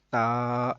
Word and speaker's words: ت: تو قرآن پاک پڑھا جاتا ہے عربی لہجے کے اندر. عربی لہجے کے مطابق قرآن پاک کو اگر پڑھیں گے تو وہ بے، تے نہیں بلکہ با، تا، سا ایسے ہوگا.